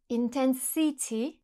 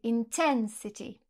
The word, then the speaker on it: intensity: Par exemple, si je dis « intensity », vous allez me dire « non, c'est faux, c'est « intensity ».